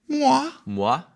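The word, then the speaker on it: Moire: Mwah.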